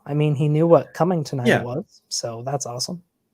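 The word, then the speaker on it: Cummingtonite: So, if you don't know, Coming Tonight is the most hilarious rock you'll ever see, and it is literally that's how it's pronounced.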